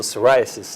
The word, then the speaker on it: psoriasis: superheroes and sidekicks so psoriasis is spelt with a silent p in front of it so we put that sound went pee in front of superheroes and the time with pee in front of sidekicks and have people dressing